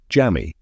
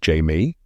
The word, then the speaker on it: Haimey: Ted and I love that Magdalena calls Haimey Jammy. It's pronounced Jamie, I say.